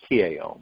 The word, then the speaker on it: Tao: And Tao is T-A-O, but it's pronounced Tao.